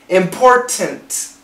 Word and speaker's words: important: Important. Important. We can make that a glottal stop. At the T, go directly to the N.